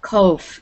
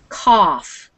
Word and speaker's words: cough: this word um cough it sounds like off you're not going to make the o sound it's not cove it's cough try it again cove